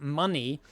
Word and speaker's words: MNWE: So MNWE, which is pronounced money, this is a dollar-backed stablecoin running on the genuine Bitcoin network.